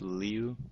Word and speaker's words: Liu: don't know how to say it yeah it's pronounced liu but everybody just says lou and then he's like you know what okay